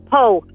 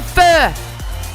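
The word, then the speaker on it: phở: Po. Mispronounced, but yes. I think you mean fur. Spelled P-H-O, but that is absolutely on every takeaway menu at a Vietnamese restaurant.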